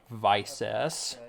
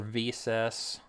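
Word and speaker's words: Visas: To meet up with Visis, or Visis. However you like to pronounce her name. It's all personal preference.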